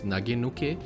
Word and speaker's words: nagenuke: Okay, in Japanese I guess the proper way to say it is nagenuke.